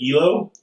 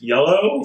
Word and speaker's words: Aello: it oh wow yeah when I first saw it I was going ELO but now I'm told it's yellow so I'm be like yellow